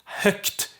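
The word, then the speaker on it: högt: the same thing with herg which means loud hooked is loudly so it turns into k right and we have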